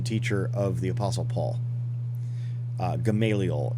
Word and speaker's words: Gamaliel: of the apostle paul gamaliel is how we pronounce it in in english in in christianity so rabbi hillel has